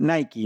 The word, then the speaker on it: Nike: Igual la palabra Nike, acá puse Nike, porque como se escribe parecido a la palabra like, en inglés le dicen Nike, ¿no?